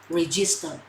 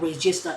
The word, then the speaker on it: register: Because in Vietnam, okay, we usually pronounce this word like register. But no, it's not register, it is register.